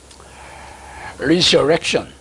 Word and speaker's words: resurrection: resurrection 발음 어렵죠. TION에는 바로 앞에 액센트가 있습니다. 그래서 resurrection 이렇게 해서 발음 오늘 괜찮네.